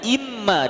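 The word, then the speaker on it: إمّا: wa in syartiyah imma itu aslinya in ditambah Ma jadinya imma itu kalau dipisah ada nunnya Hamzah Nun mim Alif tapi nunnya idgham dengan huruf mim karena nun mati ketemu mim itu idgham Jadi dibacanya imma dengan tasydid aslinya dua huruf itu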